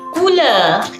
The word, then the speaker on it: couleurs: We say les couleurs.